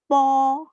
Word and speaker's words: bo: Jadi kalau bunyinya tuh po, kita menyebutkannya tuh po, memakai bunyinya huruf P, P-O, po. Padahal yang ditulis adalah B-O. Jadi kalau ditulis tuh B-O, bacanya tuh tapi diganti P.